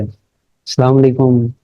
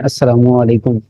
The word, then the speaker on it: अस्सलामु अलैकुम: अस्सलाम वालेकुम इस टाइप करके, इस तरह से आप बुलाते हैं, जबकि हम किसी को सलाम बुलाना तो हम कहते हैं अस्सलामु अलैकुम। ठीक है, मतलब उसकी प्रोनाउंसिएशन में फ़र्क है।